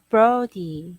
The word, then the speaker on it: Brody: First is this word, Brody? not bro, long O sound. Brody.